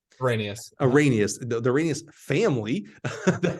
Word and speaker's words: Arrhenius: The Arrhenius, how do you pronounce Nick's last name? Arrhenius.